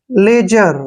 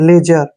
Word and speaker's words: ledger: जब भी G से पहले D आता है तो D का उच्चारण नहीं करना है। अब G का उच्चारण क्या करेंगे? ER को रे। लेजर, देखिए लेजर, लेजर क्या होता है?